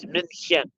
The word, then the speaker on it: München: If you are in northern Germany, you would pronounce it München. Uh, so a little bit harsher, a little bit more of a sound to what they do.